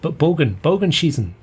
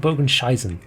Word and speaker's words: Bogenschießen: Bogenschießen. Yeah, Bogenschießen, Bogenscheisen. I said Bogenscheisen, which means I like to fire curved poo.